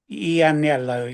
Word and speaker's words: Ianniello: Yeah, Is that how you pronounce it? Ianniello. Ianniello, yeah, Ianniello.